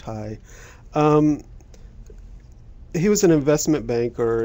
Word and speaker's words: Heye: Smithsonian George Gustav hi it's spelled heyee but pronounced hi he was an investment banker in the early